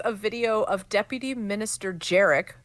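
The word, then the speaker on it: Jerec: video of Deputy Minister jerck which rhymes with merik saying that the current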